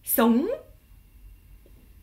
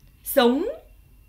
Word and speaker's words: sống: Et après, vous montez avec le S qui se prononce S, donc ça fait sống. Sống.